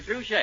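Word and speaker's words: Trushay: it at any drugstore it's spelled t r u s h a y so just ask for True Shake I'm warning you Mr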